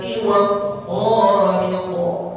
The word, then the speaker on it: والطارق: Wattariq ini berapa harokat? 2 harokat. Nah ya, jangan nanti terpengaruh dengan kalimat wassama. Jadi dua-duanya dibaca 4 harokat. Wassamai wattariq. Salah betul begitu? Salah. Kenapa? Huruf ta-nya pada kalimat tariq dibacanya lebih dari 2 harokat. Kesalahan kecil, kesalahan besar? Kesalahan kecil ya. Jadi apa namanya? Yang pertama 4 harokat, yang kedua 2 harokat.